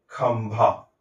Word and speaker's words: खंभा: इसलिए इस अनुस्वार का उच्चारण म की तरह होगा। है ना? और इसको लिखते भी है ऐसा। खंभा।